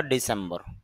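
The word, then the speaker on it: December: হওয়া ডিসেম্বর ডিসেম্বর ডিসেম্বর সের মাঝে স্ট্রেস হবে মানে একটু চাপ হবে ডিসেম্বর হল ডিসেম্বর ডিসাইড সিদ্ধান্ত নেওয়া ডিসিশন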